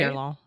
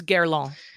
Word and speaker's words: Guerlain: Guerlain. If you're going to be French, it's Guerlain. Give it to me, fancy girl. Come on. Give it to me. Let me hear it. Guerlain.